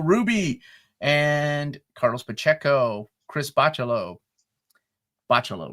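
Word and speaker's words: Bachalo: and Carlos Pacheco, Chris Bachelo. Bachelo, right, Curtis? Bachelo. One of these days I'll get it. The the emphasis is in the middle syllable. Bachello.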